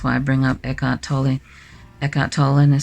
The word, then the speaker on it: Tolle: i bring up eckhart tolle eckhart tolle and some people call him tolly i tend to call him toll and silent e i don't know but